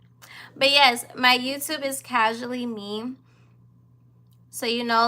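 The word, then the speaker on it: CAJually Me: But yes, my YouTube is Casually Me. So you know, like the word casually, instead of me spelling it Casually, I spell it Cajully to represent my initials. CAJ are my initials.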